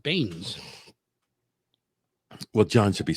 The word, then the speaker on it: Beanes: Willem Beanies. Wait, where are you? That's not right. right there. Dr. William, I would say Baines. No, The Beanes. E is silent. Baines.